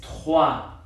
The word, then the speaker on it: trois: Ahora, ese sonido de R en realidad va a haber veces en las que sí se va a pronunciar como la J en español. Esa J en español se transcribe como una X baja, ¿no? Por ejemplo, en la palabra para 3, el número 3 es trois.